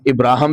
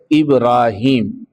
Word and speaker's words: ابراہیم: ہیں ان کے اندر ان کا نام ابراہم بھی بولا جاتا ہے، ابراہیم بھی بولا جاتا ہے۔ قرآن مجید نے جو لفظ، جو نام ان کا استعمال فرمایا ہے، اس کا تلفظ ہے ابراہیم، الف با را، پھر الف، پھر ہا، پھر یا، اور پھر میم۔ قرآن مجید میں 25